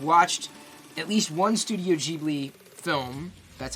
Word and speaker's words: Ghibli: I've watched at least one Studio Ghibli film.